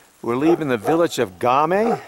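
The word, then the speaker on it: Ghami: the upper Mustang we're leaving the village of game right yeah yeah I pronounce the cocaine yeah you pronounce it right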